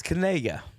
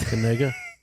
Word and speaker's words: Kanega: It's Kanega, is how it's pronounced. Kanega. But if you read it out there, we talked about it last night. That K, hopefully it's not being silent, is what Bomani Jones